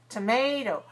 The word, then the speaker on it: tomato: So we don't want to say tomato. Tomato. We put our energy into the stressed syllable, making that one longer, clearer, and higher.